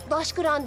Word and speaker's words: Taşkıran: Daş kıran diye okunur. Taş kıran diye yazılır.